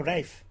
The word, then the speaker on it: Ralph: Rafe Fiennes. Oh, say Rafe. it how it's Say it how it's spelt. Say it how Ralph.